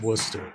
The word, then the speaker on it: Worcester: You could say worester. I got to get that worester. Yeah. Yeah. Yeah. Austin accent. I can't even do is how it's spelled, but it's Worcester or No, that's Gl.